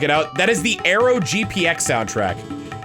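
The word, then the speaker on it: AeroGPX: That is the Arrow GPX soundtrack. arrow spelled like the c the British candy bar.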